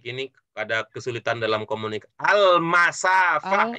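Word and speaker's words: المسافة: Al-masafah ya. Al-masafah bukan al-musafah. Al-masafah.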